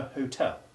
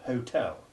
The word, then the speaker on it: hotel: with the word hotel this word can be pronounced with a sounded or a silent h and the sounds of